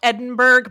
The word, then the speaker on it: Edinburgh: Yeah, it's spelled Edinburgh, but in Scotland they say Edinburgh.